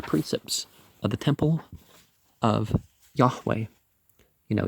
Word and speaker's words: Yahweh: of the temple of yahweh you know you don't pronounce the j as a j and you don't pronounce the v as a v he gave directions to